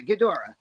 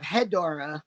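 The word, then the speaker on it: Ghidorah: gdor okay yeah it's just the way you pronounce it GH i d h o r a yeah gadora okay okay you're thinking of hedora who is than you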